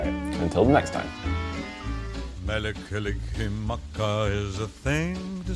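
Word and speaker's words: Mele Kalikimaka: Mekalikimaka is a thing to say on a bright Hawaiian Christmas day.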